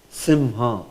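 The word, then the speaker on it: सिंह: all things uh how how is this word pronounced it's pronounced as sim sim sim sim yeah this is how it's pronounced or as I said there is another you know pronunciation allowed is s there is some sense of v in it Sim that's also okay but 100% perfect always right it's simha h so you never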